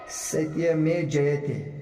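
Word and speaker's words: सत्यमेव जयते: Satya Mein Jayate. सत्य में जयते। सही प्रोनाउंसिएशन।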